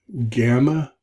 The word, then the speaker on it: gamma: Gamma, G as in girl, but notice it's a hard G.